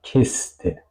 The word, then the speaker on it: Kiste: Tenemos kiste, kiste, no digo kiste, digo kiste.